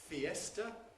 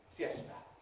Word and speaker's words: fiesta: have borrowed the words fiesta and siesta from Spanish. In Spanish, they're pronounced as two syllables each. Fiesta. Fiesta. In English, they're pronounced as three syllables. Fiesta.